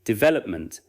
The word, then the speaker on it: development: For example, development is not usually pronounced with equal force on every syllable. The main stress falls on vel. Say, development, then place it in a phrase, professional development, then in a sentence.